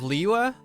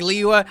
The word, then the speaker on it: Liyue: A bit of Liyue, but you're in Fontaine. I didn't say Liyue, I said Liyue. If you pronounce it Liyue Harbor, I'm gonna get you.